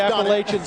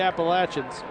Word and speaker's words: Appalachian: One of the most mispronounced schools in the country. If you live in New York, they can be the Appalachians up there, but down here it's the Appalachians and the Appalachian State Mountaineers.